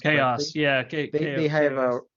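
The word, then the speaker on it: KaOS: vertical for a while I think chaos are Ka OS I forgot how it's pronounced chaos yeah okay they have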